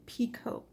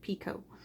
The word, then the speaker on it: picot: actually a five chain picot or peacock whichever way you wanna pronounce it i pronounce it picot so we're gonna chain